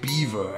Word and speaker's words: Belvoir: give this a two this is spelled Belvoir but I have been informed it's pronounced Beaver actually so this is